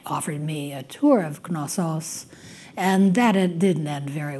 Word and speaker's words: Knossos: I say Knossos in Greek, Knossos. You do pronounce the K? Yeah. Oh, but the accent is on the... On the second syllable, syllable, Anyway, I've been pronouncing that wrong all my life.